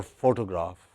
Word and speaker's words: photograph: So, let us for instance look at this word photo or photograph. It has stress on the first syllable, pho.